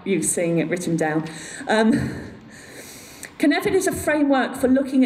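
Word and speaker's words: Cynefin: It's called Kinevin. Now you see how it's spelled. That's the hardest thing about Kinevin, is being able to spell it.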